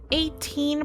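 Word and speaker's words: A'TIN: Of course, 18, pronounced like the number 18, SB19's fan club name, were super proud of their faves.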